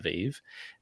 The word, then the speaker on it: VeVe: the hashtag christmas was christmas vv but we pronounced christmas vive um we were giving